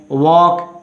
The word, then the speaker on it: walk: Walk, L letter silent.